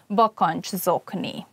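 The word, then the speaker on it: bakancszokni: And when you pronounce it, it's probably better to divide the word into parts, like bokonch and zokni. Try to say it matching all together. Bokonch zokni.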